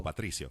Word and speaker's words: Patricio: Patricio. Oh, yeah. You got to pop that R up. Patricio. Patricio.